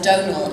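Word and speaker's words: Domhnall: That's how you say his name, no saying Dom. Donal Gleason. Yes, a bit like Donut.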